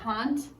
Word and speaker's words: Kant: I will be honest with you, the actual pronunciation of Immanuel Kant is a little bit closer to a bad word. So, yes. in fact, it almost sounds exactly like it.